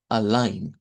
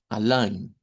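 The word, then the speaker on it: allein: lo vamos a pronunciar como aline aline digo que lo vamos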